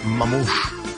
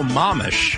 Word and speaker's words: mamish: How about Mamouche? Mamouche. Mamouche. How do you spell that? M-A-M-O-S-H. Oh, Mamish. Mamish, excuse me.